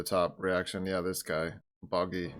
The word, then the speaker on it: Buggy: Buggy. Bunny. Gets his name wrong again. It's Buggy! Like, I said that.